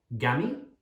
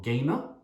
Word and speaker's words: game: so rule number two if a is followed by a consonant and then the letter e for example game the a makes an a sound and the e is silent we don't say the e so game no e sound it's not gammy or gaming or gamer it's game so here are some